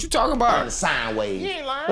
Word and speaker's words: sine: sine wave. He ain't lying. A lot of people know. Tripping. Listen, everything's about frequency and vibration. It's not sin. It's sine wave. Put an E on it.